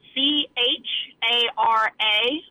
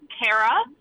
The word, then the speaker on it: Chara: but it is pronounced Cara and everyone one pronounces it Chara and I always like to say how do you spell character and it's the same way so yeah that's my